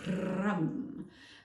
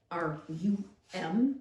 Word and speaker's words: ram: The sound for your solar plexus chakra is rum, rum. And rum, R-A-M, pronounced R-U-M if you speak of the English, and it is pronounced rum.